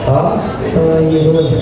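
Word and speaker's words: طَاهِرٌ: Ya, jadi Muhammad dibaca Muhammadun Tohir. Muhammadun. Dan terus kata Tohir dibaca Tohirun. Tohirun.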